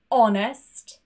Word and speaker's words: honest: There are a few words though, for example, hour, honest, and air, where the H is silent.